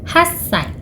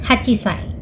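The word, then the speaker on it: はっさい: Umur 8 tahun dalam bahasa Jepang adalah hassai, bukan hachisai.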